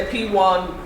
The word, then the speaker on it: PWAN: of riches from the p1 group my name is i'll be taking you through the slides p1 is an acronym for property world africa network property world africa network p-w-a-n pronounced p-1 p-1 p-1 was established